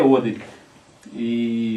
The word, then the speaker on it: Odery: nosso né até eu sou conhecido como Maurício oderi Mas e a pronúncia correta é oder e Mas eu sou conhecido por causa da marca